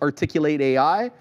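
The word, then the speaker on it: Articul8 AI: articulate articu and then 8 and then AI pronounced articulate AI is an out growth of work on corporate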